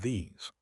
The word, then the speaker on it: these: And the ending is not an S. It is a vibrating Z sound. ZZ ZZ. If you don't vibrate the Z, it sounds like this. Try it. Smile. Stretch the E and buzz the Z.